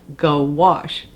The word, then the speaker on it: gouache: u c h e pronounced like goash so gouache is an opaque watercolor